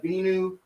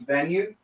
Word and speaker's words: Venu: the same as the binu 2 or venue 2. I think it's pronounced venue and that's what I'll say from now on but the Garmin venue